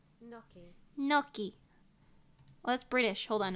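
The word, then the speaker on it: gnocchi: right here we go no noi oh I was right no noi oh that's British hold on American noi what the noi wait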